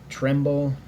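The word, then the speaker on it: Trimble: was also general pedigree general tremble i believe is how it is how you pronounce his name and also a general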